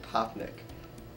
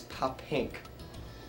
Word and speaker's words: Poppink: like my last name, he like when he heard it, he like tried to pronounce it and he pronounced it Poppnick. And it's Poppink.